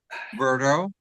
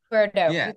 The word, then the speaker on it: Berto: um hi dere and is it Berto or Roberto how do you say your name Berto Berto got it Nicole yeah